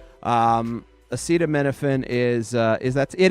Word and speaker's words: acetaminophen: Um acetaminophen is uh is that it is Tylenol. Okay. I just want to get that part right. So the president said acetto menophen which he can't pronounce so he just kept saying Tylenol is